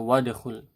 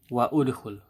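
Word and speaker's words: وادخل: Misalnya kita tambah di sini perkataan wa dan, nah, wa, maka kita bacanya wadkhul, bukan wa udkhul, ya, bukan seperti itu, tapi wadkhul langsung, karena ini akan tidak berguna jika ada sesuatu sebelumnya.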